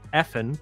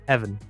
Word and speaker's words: Effen: for DegreeEsports name was Effen, but I've been told it's a Welsh name and it's pronounced Evan. Oh, it's so, Evan. Yeah, little tidbit for you. Who knew F meant V?